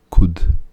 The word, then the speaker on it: could: αόριστος του can και προσοχή αυτό το l δεν προφέρεται could σαν να μην υπήρχε may και ο άριστος